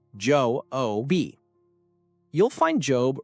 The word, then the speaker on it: Job: It's called the book of Job, pronounced Joe O.